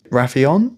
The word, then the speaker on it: Raphion: I think it's fascinating how, so Alan calls this creature that he finds Raphion. That's how I'd say it. Which, so it's spelled like Raph and then I-O-N.